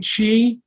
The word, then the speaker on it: Qi: Qigong so the term Chi is for um means energy or your life energy it's a Chinese term Chi it's spelled Qi but it's pronounced Chi like Cheeseburger um and the term